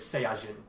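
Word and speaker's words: サイヤ人: So in Japanese, the pronunciation of Saiyan is Saiyajin.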